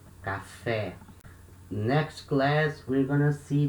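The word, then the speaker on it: café: are gonna see that the accents in portuguese they are used to mark the strongest syllable like here can fair and they also sometimes they can they can also mark the sound the vowel will make like this we say cafe because letter e has the acute accent when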